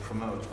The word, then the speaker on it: promote: and encourage how to promote okay how many syllables in that word two where's the stress first or second second second okay so we've got